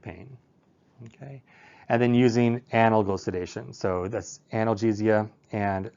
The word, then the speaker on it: analgesic: That's actually pronounced analgesic, not analgesic.